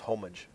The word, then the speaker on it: homage: I hit my microphone I think it's pronounced homage yes at home age and I'm surprised that